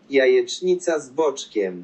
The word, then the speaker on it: jajecznica z boczkiem: Jajecznica z boczkiem.